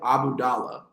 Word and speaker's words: Abdullah: I believe his name is pronounced Shiv Abudallah.